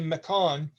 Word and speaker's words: mechon: It's a battle mechon. Mechon is a gnomish word for mechanical and invention altogether. So when you hear me say mechon, I'm not mispronouncing it.